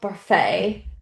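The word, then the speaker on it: Barfée: Um then you also have Olive Ostrovski and William Barfay. Um so it's about the six of them but also Barfet you got to say it right.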